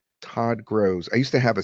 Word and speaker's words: Gross: Hey gang, this is Todd Gross. Now, sometimes it gets my name wrong and it says Gross. So I'll write gross like that, which sometimes it pronounces grows, but it's closer. Todd Grows.